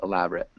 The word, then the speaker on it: elaborate: nest elaborate library closed elaborate just three syllables elaborate elaborate yeah okay good right so